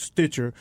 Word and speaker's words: Stitcher: And also the more popular podcast network is Stitcher, which is it's like Stitch with an ER. Stitcher. That's pretty easy. But Stitcher is more popular because